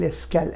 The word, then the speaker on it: est-ce qu'elle: উচ্চারণ দুটোই এক, বানান আলাদা। est-ce qu'il parle français সিঙ্গুলারও যা, est-ce qu'elle parle français সিঙ্গুলারেতে এখানেও যা, প্লুরালেতেও ঠিক তাই, এস্কিল এস্ক্যাল একই উচ্চারণ হবে।